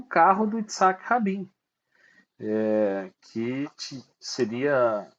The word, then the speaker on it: Kach: no comecinho dos anos 90 e vandalizando o carro do Isaac rabinho que seria assassinado um pouquinho